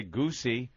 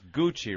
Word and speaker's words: Gucci: Ah, you wouldn't say Goosey or Gucci. It's Gucci, right? Boss would say Gucci. So I got Bonnie a Gucci.